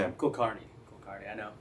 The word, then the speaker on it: Kulkarni: Karnney. Kardi. I know it's a lot. Sorry. How do we spell that?